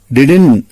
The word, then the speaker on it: didn't: எல்லா டிக்ஷனரிஸும் ஒரே மாதிரி டிடன் அப்படின்னு தான் ப்ரொனவுன்ஸ் பண்ணிச்சு. நான் பொலைட்டா ராஜேஷோட மேனேஜர் கிட்ட சொன்னேன், சார் டிடன் தான் அக்செப்டபிள், டின்ட்ங்கிற ஒரு டிஃபரெண்ட் வெர்ஷன் இருக்குன்னு சொன்னேன். அதை நான் ராங்னு சொல்லல.